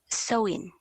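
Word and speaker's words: Samhain: chaotic a festival or seven pronounced sowing the tails the girls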